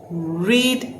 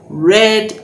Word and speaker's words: read: I dash read a storybook. I read a storybook. Read is the present tense, read is the past tense, but we spell it the same way.